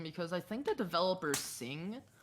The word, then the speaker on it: Cing: But like, I think it's just so interesting because I think the developers Sing, C-I-N-G, that's Sing. That's their name.